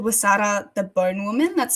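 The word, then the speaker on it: Huesera: the title again please it's called It's called wasada The Bone woman that's spelled h u e s e r a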